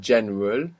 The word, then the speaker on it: general: For example, if we have a j sound, now, for example, in general, how is this pronounced in Spanish? General. General. And it's spelled the same. So there we understand that GE makes G sound.